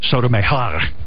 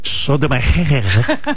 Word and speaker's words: Sotomayor: Sotomayor. How do you say her name, Robin? Meher. Sotomayor. Let's see how Nicole on Sirius Hit says it. It's like, Gotta roll those R's. Costelia. Sotomayor.